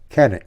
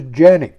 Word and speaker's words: Canik: to it as a Canic 55. Apparently, the proper Turkish pronunciation is Janick 55 in spite of it being spelled with a C instead of a J.